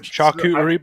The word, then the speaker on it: charcuterie: That's pronounce not that? fair. I have never heard like this. Charcuterie board?